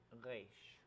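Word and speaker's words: ריש: It looked like a resh and a nun or something. Okay, and then the next letter is resh. Say it again. Resh. Resh. More of an So- A sound in there than E.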